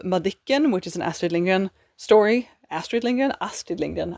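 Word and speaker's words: Lindgren: This is giving a bit of Madikan which is an Astrid Lingan story. Astrid Lingan. Astrid Lingan. I am Swedish. I should pronounce her name the way it's supposed to be pronounced. Astrid Lingan.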